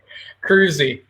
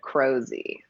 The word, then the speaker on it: Kroeze: pronounce your last name so you say it first crew Z I think anybody's pronounced it right on the internet yet so I totally would have said crow Z yep that's pretty cruisy